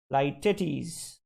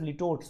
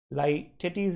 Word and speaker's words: litotes: The correct answer is Lytetes. Correct answer is A for apple. Many people pronounce it as litotes. Okay, that's not really the acceptable pronunciation. Lytetes is the acceptable pronunciation.